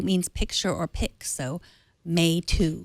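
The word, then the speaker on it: Meitu: It's pronounced May 2. So the MEI is pronounced May. That means pretty or beauty. And TU 2 means picture or pic. So May 2. May 2. May 2.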